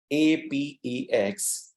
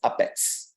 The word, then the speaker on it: APEX: take this opportunity to explain to you that ā'pěks, Oracle APEX, right? We generally pronounce it or we generally spell it as ā'pěks, right?